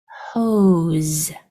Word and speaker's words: hose: And this E is silent because E's at the end are usually silent. So the sounds are O, Z. When you push those sounds together, it's hose, hose, hose.